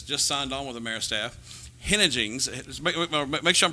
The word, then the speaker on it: Henneigess: Henneigess. Make sure I'm pronouncing that right. I think you're pretty much close to it because I would say it the same way. Henneigess.